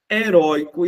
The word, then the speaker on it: heróico: Heróico. Oi é um ditongo aberto, ó. O timbre aberto está na paroxítona.